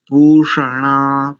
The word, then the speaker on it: पूषण: थोड़ा बहुत इधर उधर जैसे नकार का उच्चारण नकार जैसा आ रहा है पूषण पूषण ऐसा आना चाहिए ठीक है अच्छ जी